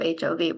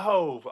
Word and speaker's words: HOV: Also thank you for pronouncing that because I think I said Book of HOV when during the bio, so apologies No, for no, no, no. mispronouncing. It's all good. The Book of Hove, which was Jay-Z's exhibit at the Brooklyn Public